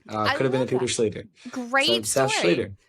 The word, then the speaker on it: Schlueter: but there's now an easy way to remember my name. It rhymes with Peter. Could have been a Peter Schlueter.